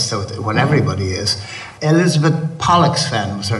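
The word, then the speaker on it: Pollexfen: Elizabeth Pollocksfen was her name. We've got to pronounce that word very carefully. Pollux, P-O-L-L, in case you think it's something else.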